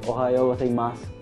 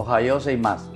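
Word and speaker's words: おはようございます: Ohayo gozaimasu. Seimasu. Ohayo seimasu. Ohayo gozaimasu. O sea que dije malo ya.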